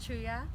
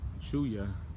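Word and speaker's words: Cheya: My name is Chuya. Like Chuya Buuya. Chuya. How would you spell that?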